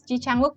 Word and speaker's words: Ji Chang-wook: 5 suku kata dalam nama ini, jadi kita membacanya R-A-D-I-T-Y-A, D-I-K-A, begitu. Lanjut ke Mas Ji Chang-wook dari Korea, J-I-C-H-A-N-G-W-O-O-K, Ji Chang-wook, 3 suku kata.